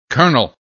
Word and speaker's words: colonel: calm balm palm almond salmon calf half salve colonel colonel no sir i didn't mean there was